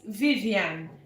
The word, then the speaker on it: Viviane: My name is Vivian. So we spell it V I V I A N E.